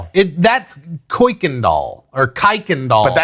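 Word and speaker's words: Kuykendahl: It that's Kendall or Kikond doll. But that's Houston. That's Houston. If you don't know how to pronounce Kirkandall, you're not from Houston.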